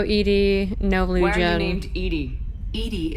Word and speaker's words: EDI: no blue named edie edie is the phonetic pronunciation like theoretically they that